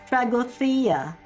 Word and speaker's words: Tragodia: Yeah, the actual Greek person corrected me, and he said that it's pronounced as Tragodia.